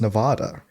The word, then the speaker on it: Nevada: It's like people who pronounce Nevada wrong. They're like, it's Nevada.